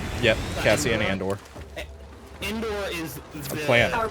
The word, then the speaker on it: Andor: Andor is. I feel like. Andor's really good. Rebels. And yeah, I am saying that right? Andor? Yep, Cassian Andor.